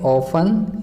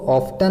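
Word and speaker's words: often: बच्चों, ये देखो एक वर्ड है ऑफन, इसको ऑफ्टन नहीं पढ़ेंगे। इसमें टी जो है साइलेंट है, इसलिए इसे ऑफन पढ़ेंगे।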